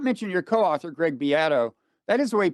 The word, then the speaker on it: Greg Beato: I did not mention your co-author, Greg Beato. That is the way he pronounces his name, right?